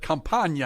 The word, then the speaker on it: Campana: I almost said Campana, and I was like, don't do it.